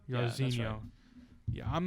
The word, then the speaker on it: Jairzinho: How you say his first name? Oh, Jairzinho. Jairzinho.